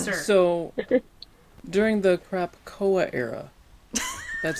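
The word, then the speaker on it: Krakoa: So, during the crapcoa era, that's how you say it, by the way.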